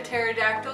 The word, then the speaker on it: pterodactyl: can't you hear a pterodactyl going to the bathroom because the P is silent why does this looming